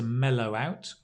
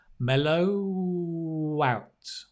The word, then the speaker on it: mellow out: together i like to mellow out again notice the pronunciation the w moves over here mellow out wow mellow out mellow